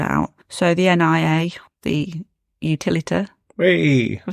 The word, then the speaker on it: Utilita: So the NIA, the Utilita.